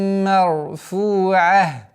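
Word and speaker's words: مرفوعة: Здесь ра твердая. Марфу нет. Марфу'ах. Марфу. Удлинение в размере двух огласовок. После айна у нас при остановке получается звук ха. Так как танвин и та марбута переходит в звук ха, и танвин аннулируется.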